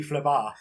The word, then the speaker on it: Phlebas: It's a silent S, mate. You don't know anything. It's actually Phlebas.